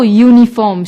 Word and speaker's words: uniform: for example uniform although uniform starts with a vowel you it is not pronounced with a vowel sound so we use a before it if we meet a